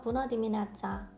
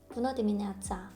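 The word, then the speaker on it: Bună dimineața: 그래서 부너디미네아짜, 부너디미네아짜. 지금 이 알파벳, 아까 설명드렸던 특별한 알파벳 중 하나인데요. 이 쯔는 한글에서 그 쌍지읒과 조금 비슷한 발음이 나요.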